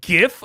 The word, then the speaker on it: GIF: like I will defend GIF until my dying day cuz it's graphical user interface but uh or graphical interface format or whatever it's graphical the G is graphical G GIF um so I'll defend